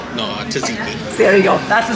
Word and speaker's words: tzatziki: Zuki. No, tzatziki. There you go. That's the sauce. I can never pronounce the word right.